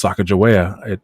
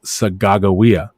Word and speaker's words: Sacagawea: expedition came through us and they picked up sacajawea from from us from my tribes and uh but her name is not pronounced sacagawea it's pronounced sagawiya it's actually one of my native tongue words